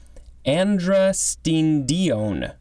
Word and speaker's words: androstenedione: But looking at the pronunciation guide, I think it is androstenedione. A-N-D-R-O-S-T-E-N-E-D-I-O-N-E. And it looks like it can also be pronounced androstenedione. So slightly different emphasis.